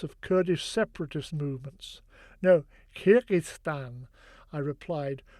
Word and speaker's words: Kyrgyzstan: No, Kyrgyzstan, I replied, trying to wrap my tongue around the challenging Russian vowel "i" in the first and second syllables.